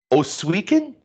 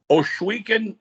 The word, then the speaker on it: Ohsweken: And you told me now, no, I want you to help me with this pronunciation because I like to learn. Oswegan? Ohsweken, Ontario, which is classified as Six Nations.